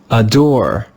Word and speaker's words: adore: Can you hear how the first syllable is not stressed? It's a little bit quiet. Adore, adore. That is an unstressed syllable. And when the English letter A is in an unstressed syllable, it's pronounced with the sound adore.